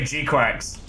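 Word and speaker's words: GQuuuuuuX: I know it's a soft G and it's it's a qu. No, they literally say Gquax.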